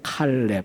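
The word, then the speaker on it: כָּלֵב: 제가 제목을 잡은 건데 아 히브리어로는 칼이라고 읽어요 칼렙 우리말은 이제 조금 순하게 갈래 발음을 하는데 뜻이 또 심각합니다 개입니다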